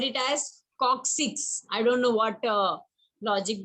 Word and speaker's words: coccyx: Tailbone, Coccyx. tailbone called coccyx, since we don't Many people have called it tail. yes, listen, many people called it as coccyx.